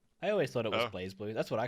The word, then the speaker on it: BlazBlue: think it's actually pronounced blaze blue they just don't have the e in there i always thought it was blaze blue that's what i call